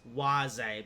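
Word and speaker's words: Łazy: I know it's actually pronounced waze, but again, lazy sounds funnier.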